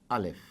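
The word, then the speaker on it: ألف: This is Alif, A-L-I-F. That is how it is pronounced.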